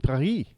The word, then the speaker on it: Paris: No, I know we say Paris, but it's actually Perry.